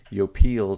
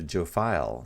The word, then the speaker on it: Jophiel: Europeans especially the English as soon as they saw that J they put a j into it so that's why we see Yo peel turning into Joe file so however you want to say it is fine you know she knows